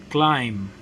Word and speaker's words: climb: with silence B sound read the following words with silent B sound that means you're not going to pronounce but examples of this words Bom Bom plumber plumber climb climb lamb lamb Tom